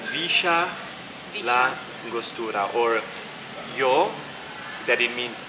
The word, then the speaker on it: Villa La Angostura: yeah here it's like a shirt so it's Risha la angostura or yo that it means I usually it's